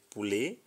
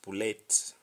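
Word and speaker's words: poulet: we have pool pulley because there's a t at the end so we say pulley and not pull it say which is C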